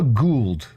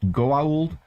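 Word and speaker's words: Goa'uld: he did say a Gould which is a character from the Stargate sg1 it's obviously pronounced goald but he did say a Gould and I can't unhear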